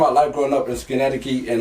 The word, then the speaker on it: Schenectady: Schenectady. Like skin, neck, titty.